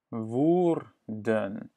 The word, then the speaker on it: Woerden: Et après, je te dis comment on le prononce. Bien? Hoe. Hoe. Bien? Hoe. Comment? Woorden. Woerden.